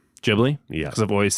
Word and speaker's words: Ghibli: It should be pronounced Ghibli. Ghibli. Yeah, because I've always said Giblly.